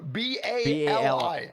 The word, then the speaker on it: Bali: Bali it's called it's it's that's how you pronounce it it's b b a r l e y no b a l i yeah Bali I am so sorry thank you